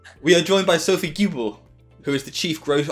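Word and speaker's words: Guibard: always mispronounced your surname we're joined by sophie goobard i'm i am i'm pronouncing that right no you're not we are joined by sophie gilbert who is the chief growth officer at openpage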